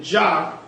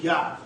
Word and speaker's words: Yah: We know it's written Jah, but there's no J in the Hebrew, so it's supposed to be Yah.